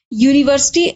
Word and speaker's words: university: the word begins with the pronunciation of this word begins with y which is actually a van of hindi one. you should say university or if you just